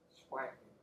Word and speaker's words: splanchnic: You got to kind of emphasize it. Splanchnic. So people say splanchnic. That's how it's supposed to be pronounced, I think.